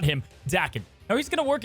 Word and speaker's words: Daken: Now, the best part is about Daken. It's Daken, by the way.